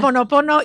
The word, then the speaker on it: Ho'oponopono: Because Ho'oponopono is what I call the easiest way.